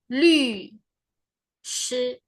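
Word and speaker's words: 律师: Nah, tadi yang di mention sama Kak Dwi bahasa Mandarinnya pengacara di sini adalah lü, shi. Nah, jadi ini bacanya bukan lu tapi lu. Mulutnya u tapi pelafalannya atau kita ngomongnya i.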